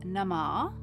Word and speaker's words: Namah: If another word follows Namah, then the second part of the vowel is not pronounced, so Om Namah Shivaya.